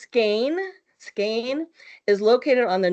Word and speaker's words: Skagen: And then, of course, we're going to go on to, it looks like Skagen, right? But it's pronounced Skane.